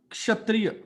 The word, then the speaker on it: क्षत्रिय: वो उसका है क्षत्रिय. उस श से पहले क की आवाज आती है. हाँ. क्षत्रिय नहीं है. उसकी शुरुआत क से होती है, हल्का क. हाँ. क्षत्रिय.